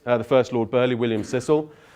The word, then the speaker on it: Cecil: First Lord Burleigh William Cecil pronounced Cecil not settle so we have his